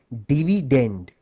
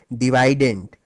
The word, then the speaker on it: dividend: as dividend by the way the correct English pronunciation of this word is actually dividend but since divident ranks better with divisor thus the students prefer